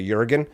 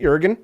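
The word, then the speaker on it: Jørgen: Justin J Peterson is jorgan right but that's like Joseph but it's a Jurgen that's how they pronounce it Jurgen Hy FY fur uh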